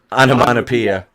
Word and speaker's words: onomatopoeia: Onomatopoeia. It's a sound effect. Onomatopoeia. There you go. Sounds like I want to pee on you.